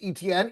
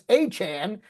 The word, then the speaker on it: Etienne: Etienne is not pronounced ETN, it's Achane.